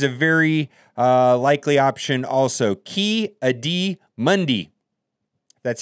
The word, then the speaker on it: Ki-Adi-Mundi: Anakin this is a very likely option also ki-adi-mundi that's how you say it I don't know